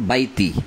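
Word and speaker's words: البيت: তারপরে ফালিয়াবুদু রাব্ব হাযাল বাইতি, এখানে আছে রাব্ব হাযাল বাইতি, আপনি কিন্তু বাইতি বলেন না, আপনি কি বলেন? ফালিয়াবুদু রাব্ব হাযাল বাইত, বাইত, অর্থাৎ আপনি শেষের অক্ষরকে অর্ধেক উচ্চারণ করছেন।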